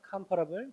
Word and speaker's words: comparable: 자, 그리고 얘는 뭐라고 읽냐면 compare, 비교하다라는 동사의 형용사 형태인데 comparable이라고 발음합니다. comparable, be comparable to 명사.